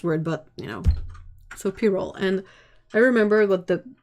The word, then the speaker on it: pyrrole: It sounds sort of like I see the P and the Y, and I'm like it's Y, so it's pie, you know. But no, it's pyrrole.